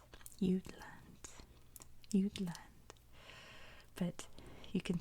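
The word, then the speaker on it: Jutland: now you'll always remember its name it is pronounced you'd land you'd land you'd land but you can see the jut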